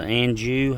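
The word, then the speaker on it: Anjou: This is a Anu, I believe, how you say it.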